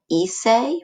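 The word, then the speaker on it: hice: yo form we have ise remember you don't pronounce the h at the beginning of a spanish word so you just start with the i ise is the yo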